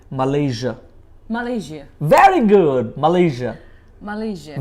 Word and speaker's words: Malaysia: তারপরটা হচ্ছে MALAYSIA, আমরা বলি এটাকে মালয়েশিয়া, কিন্তু মালয়েশিয়া না, এশিয়ার মতো করে এটাকে উচ্চারণ করতে হয়, বলেন মালয়েশিয়া।